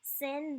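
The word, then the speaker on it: שׂין: Sin, the dot is placed on the first leg, and it's pronounced S like C, transliterated with an S with a kind of an accent-like line on it.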